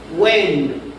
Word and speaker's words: when: When cuándo iso es tu cumpleaños también la h es muda.